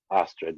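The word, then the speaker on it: Ostrit: Astrid, yeah, that's how I pronounce it. The single D.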